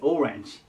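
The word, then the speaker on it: orange: ねで次がオレンジですオレンジでこれはアクセントが最初に来るのちょっと気をつけてくださいでまオレンジって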